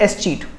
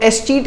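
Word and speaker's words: escheat: इसको पढ़ते ई इसमें साइलेंट है तो इसको पढ़ते हैं एस चीट। तो एस चीट क्या होता है, बेसिकली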